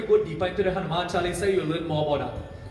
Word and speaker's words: Chalisa: The word is not Chalisa. I'll say it one more time. The word is not Chalisa. The word is Chalisa. The word is Chalisa.